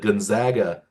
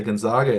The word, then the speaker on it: Gonzaga: State pronunciation the way they've drummed up the Gonzaga pronunciation for another team up in the Pacific Northwest small school that is very strong. Like you don't see anybody say Gonzaga anymore because they Hmm.